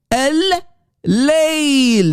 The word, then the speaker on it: Al-Layl: Do you hear the double L? L, guys, focus, please. Al-Layl. That's the way to say, the correct way to say the night.